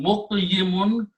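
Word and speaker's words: مقيمون: And for the easy pronunciation, instead of saying muqyimun, we switch these kasra and sukun between these, so it becomes muqimun now.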